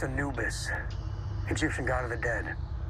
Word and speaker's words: Anubis: the ships called the an you but it's pronounced Anubis Egyptian god of the dead that's not good